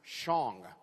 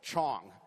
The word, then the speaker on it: Chong: in my last name the Dutch traditionally could not pronounce the consonant CH so my last name was Shong instead of Chong and so by the